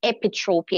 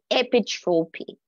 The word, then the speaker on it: epitrope: The Greek word that is translated as commit or committed is epitropia. And I recognize that I made a pronunciation mistake last week. So it is epitropy.